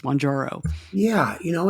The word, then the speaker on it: Mounjaro: I should be clear I'm not sure I pronounced it correctly but it is monjaro the end comes first monjaro yeah you know it's